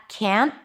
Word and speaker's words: can't: Remember that can't always has the full vowel the as in cat. can even though the t is barely noticeable because the word can the positive form is usually reduced to can do it can and can't is never reduced.